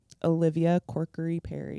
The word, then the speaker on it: Olivia Corkery-Perry: Olivia Corkery-Perry.